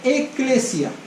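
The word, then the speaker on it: ἐκκλησία: La palabra iglesia deriva de una palabra en griego que se escribe eklesia.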